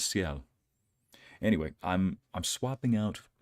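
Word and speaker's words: Sciel: I swear somebody said scale in the beginning of the game. That's how they pronounced it. But I guess her name is Seiel.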